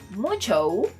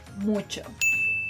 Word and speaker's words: mucho: Remember that in Spanish, you should never elongate letter O, especially when it appears at the end of words. So if you're thinking that this word is pronounced mucho, I'm sorry to tell you, but you're wrong.